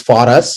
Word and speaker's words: Forus: we started this company it's for us it's for us or you pronounce it for us but it is actually for us it's for our community and we wanted to